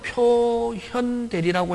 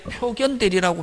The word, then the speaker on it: 표현대리: 바깥표 끝표 끝으로 보여지고 그래서 지금은 표현대리라고 읽지만 옛날에 1970년 이전에 법과대학 다녔던 아저씨 한 70 넘은 아저씨들은 선생 우리는 학교 다닐 때 표견대리라고 배워서 표견대리라고 읽어도 관계없다.